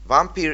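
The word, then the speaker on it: Vampyr: The name of the game is Vampire, and by the way, this is how it should be pronounced. Vampire is action RPG in which you play as a vampire who is also a doctor.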